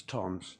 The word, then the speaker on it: Thoms: I know it's pronounced as it's spelt as Thoms, but it is pronounced as Toms.